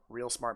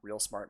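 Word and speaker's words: ReelSmart: let's see real smart it's spelled like r-e-e-l real smart motion blur it's under revision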